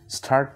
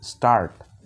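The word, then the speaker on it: start: না, এটাকে বলতে হবে স্টার্ট। এটার একটা নিয়ম আছে যে এসের পরে যদি টি থাকে তাহলে এটাকে কিন্তু টি বলা যায় না, ঠ উচ্চারণ হবে না, তখন ট এর মতো উচ্চারণ হবে।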